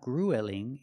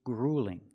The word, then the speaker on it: grueling: a marathon is grueling also notice with the U we don't say o it's not gruelling it's grueling use the law o plus the light L gring it's grueling it's